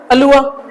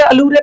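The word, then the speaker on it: allure: सर आगे क्या है सर आपका, अलुआ, लुआ, कुछ लोग इसको क्या पढ़ेंगे, अलूरे पढ़ेंगे, कुछ याद है ऐसे करके गड़बड़ मत करना, अलूरे नहीं होता ये, ठीक है, क्या हो, अलुआ, लुआ, ये र साइलेंट रहता है लेकिन अ की साउंड देता है, अलुआ, ठीक है ना,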